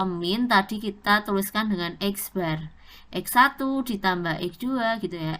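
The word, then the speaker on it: x̄: X pakai tanda atas garis itu dibacanya adalah X bar.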